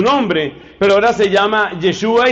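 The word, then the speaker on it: ישוע: Que en hebreo se pronuncia algo así como Yeshua. Yeshua era su nombre, pero ahora se llama Yeshua y se llama Christos porque ha sido ungido.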